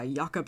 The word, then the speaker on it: Jacob: the Grim brothers who were uh yakob and vilhelm or Jacob and Wilhelm however you want to pronounce uh it was first